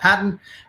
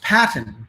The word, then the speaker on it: Paton: Well, and the problem is that if you look here and you see my name, I say it's Paton, but if you use proper English, it's Paton.